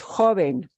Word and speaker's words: joven: Otherwise, I'd be changing the syllable of stress to jóvenes. The base word is joven. We want to preserve where that base sound is.